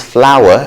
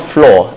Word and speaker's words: flour: and the next is flour flour and flowery flower flowery okay so it's not floor and flory flower flowery next is